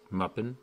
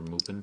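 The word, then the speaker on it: Mupen: So I'm going to load the same game using Muppin, or Moopin, however you want to pronounce it, instead of Parallel.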